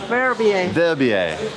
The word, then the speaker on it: Verbier: Do you pronounce this Verbier? Verbier.